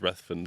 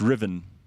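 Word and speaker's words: Ruthven: It's Riven. Riven. No. Yeah, but you see, you wouldn't know that unless you were and and the nanny won't teach you this back in the day. Your your parents would have to say to you, "Oh, this is uh Julia Riven. She lives down the road." And you'd go, "How do you spell your surname?"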